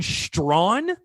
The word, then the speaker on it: Strawn: are you talking about i heard his name pronounced his way like seven different times by announcers but jordan strawn that's how they said it jordan strong committing to south carolina